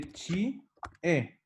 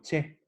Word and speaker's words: che: Ya es la contracción de chi, e. Y yo cuando lo pronuncio digo che. Leche. No digo chie.